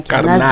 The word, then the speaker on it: Carnaz: Carnaz le groupe et non Carnaz de la série. Carnaz. Voilà, tu prononces à la malgache comme ça. Carnaz. Carnaz.